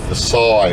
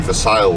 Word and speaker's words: Versailles: 7 miles west of Versailles, as I would call it. And the locals spell it literally, pronounce it literally Versailles.